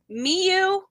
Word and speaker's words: Miyu: So you're going to have to pronounce the last name. Mm-hmm. It's Miyu.